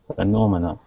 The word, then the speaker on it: phenomena: of words just over this is pronounced phenomena phenomena yep we'll talk about that